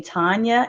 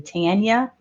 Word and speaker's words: Tanya: not murdering it but they're calling me tanya and my name is actually tanya one thing i did